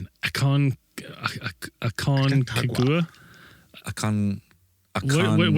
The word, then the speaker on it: Aconcagua: It's spelled A C O N C A G U A. It's a mouthful. Aconcagua.